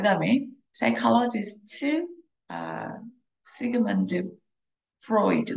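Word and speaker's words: Freud: 자, 그 다음에 psychologist 시그먼드 프로이드. 우리는 프로이드라고 발음을 하죠. 그죠? 다르게 발음할 수도 있습니다.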